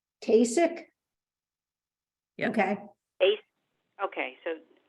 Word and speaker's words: Tkacik: Kasich?